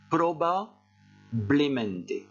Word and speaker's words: probablemente: Et pour bien prononcer ce mot-là, qui en réalité n'est pas difficile, il faut faire une petite pause ici. Et vous répétez après moi, probablemente.